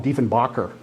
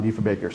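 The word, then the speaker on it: Diefenbaker: Kennedy used to say call him de Bacher de Bacher right and say his name sounds like he's German they they did they really didn't know what to expect from John defa Baker so you know maybe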